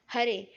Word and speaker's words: हरे: हरे, जब हम हरे उच्चारण करते हैं तो उसमें रे का उच्चारण दीर्घ होना चाहिए।